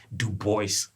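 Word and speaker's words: Du Bois: Like, I always call him "Da-Boy" because, you know, it sounds like that. It looks like that's how it should be pronounced, but it's actually Dubois. So Dubois, during the 1906 Atlanta riot, when, like, white people went H.A.M.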